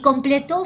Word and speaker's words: completó: Completo, su sílaba tónica es ple, y completó, su sílaba tónica es to.